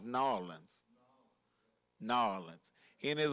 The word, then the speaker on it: New Orleans: A lot of people say New Orleans. I think we're supposed to pronounce New Orleans.